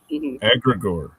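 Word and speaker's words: egregore: Argregor. How I am having a hard time pronouncing the word agreor.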